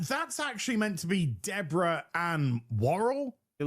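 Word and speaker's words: Deborah Ann Woll: Uh that's actually meant to be Deborah an Warl. It looks just like is how you pronounce her name.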